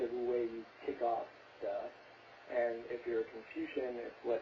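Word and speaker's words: 德: I also think when you're in this state, you get this power that unfortunately in modern Mandarin is pronounced duh. I know, I loved reading that duh.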